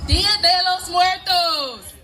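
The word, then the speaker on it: Día de los Muertos: Dia de los Muertos.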